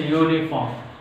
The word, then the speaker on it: uniform: Sorry, it's a uniform. Uniform. Vowel letter having a consonant sound ya. U pronounced like ya, so that it is a consonant.